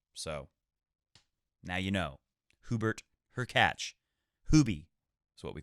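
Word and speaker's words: Hurkacz: what he's talking about her catch should be pronounced as her catch similarly to latch so now you know Hubert her catch Hubie is what we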